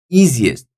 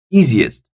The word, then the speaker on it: easiest: impatient number two easiest easiest there are three syllables and then the first syllable is taking the stress on easiest three Optimist op Optimist